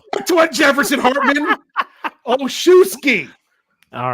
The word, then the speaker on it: Olszewski: Olszewski. All right. Okay. Think about this. I've had to look this up multiple times. Olszewski. O-L-S. Z-E-W. S-K-I.